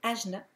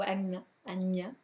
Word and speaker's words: Ajna: Hein, Alors, c'est la raison pourquoi ce chakra-là, au troisième œil, on l'appelle Ajna ou Agnya, selon la prononciation.